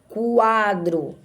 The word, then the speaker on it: quadro: Quando a gente diz assim, quadro, veja que parece que eu estou escrevendo com CU. Quadro.